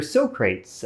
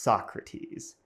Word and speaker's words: Socrates: Well, it's named after Socrates, an ancient Greek philosopher. It's actually pronounced Socrates.